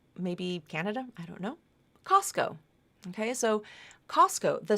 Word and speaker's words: Costco: it's pronounced just like Costco Costco that t is gone so that's your rule